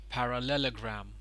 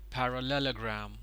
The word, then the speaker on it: parallelogram: now this one over here is called as parallelogram parallelogram parallelogram the stress is on layer so here is